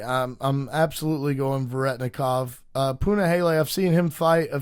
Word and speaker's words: Punahele: Up next, we have Punahele Soriano taking on Nikolai Veretnikov.